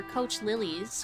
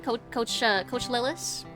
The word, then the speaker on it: Coach Lillis: Coach Lillis? Or Coach Lilies? Which is it? I want to make sure I'm pronouncing it right. To be fair, we kind of got her into this mess. That's true. It is kind of our fault. The first one, Coach Lillis.